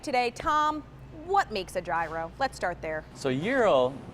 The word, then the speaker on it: gyro: my favorite foods, and until today I was pronouncing it wrong. We are going to make the gyro, otherwise known as the gyro in the world of very poorly spoken English here.